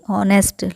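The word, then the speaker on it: honest: हमारे पास पेंडिंग है एच ओ एन एस सी ऑनेस्ट लेकिन यहां पर प्रेस साइलेंट है इसीलिए यहां पर भी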